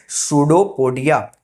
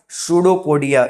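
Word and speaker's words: pseudopodia: को हम बोलते हैं सूडोपोडिया। याद रहेगा, सूडोपोडिया स्पेलिंग पी से स्टार्ट होती है बच्चों, और पी साइलेंट होता है यहाँ पे, तो स्पेलिंग में थोड़ा याद रखना।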